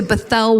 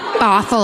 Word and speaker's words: Bothell: from San Francisco to Bethel, Washington. I don't know if that's how it's pronounced. Bothell, I said. Like brothel, Washington.